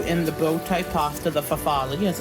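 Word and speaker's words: farfalle: i just threw in the bowtie pasta the fafali as it's pronounced um i also been starting to add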